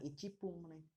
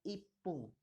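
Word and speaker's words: 一分: satu menit 1ic binatangnya menitnya itupun bukan ittu mereka melainkan Ipung jadi satu menit itu Ipung kemudian tiga menit tiga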